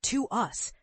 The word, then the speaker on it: TWS: But TWWS, with their clever name pronounced to us, symbolizing a deep connection between the members and fans, is carving out a distinct identity all their own.